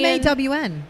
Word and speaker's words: Mon: So it's not like rhyme with John or anything like that. It's the Oh, Cambodian. MAWN.